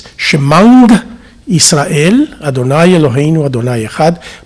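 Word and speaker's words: שמע: The ayin letter, that in modern Hebrew is mute, is pronounced as a ng. So when I was taught to say the Shema Israel, it was not Shema Israel, Leolam Vaed.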